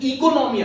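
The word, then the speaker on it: οἰκονομία: ये एट उसका प्रोनाउंसिएशन इकोनॉमिया है, बट इकोनॉमिया बोलो तो बच्चे ईसीओ लिख देते हैं.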